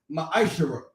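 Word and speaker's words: מעשר: it means 10th in hebrew and it's pronounced maestro 10 of every penny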